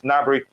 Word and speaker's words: Gnabry: granberry navarry is it gnabry or not the g is silence right so it's it's uh g is silent so it's gnabry nary is a very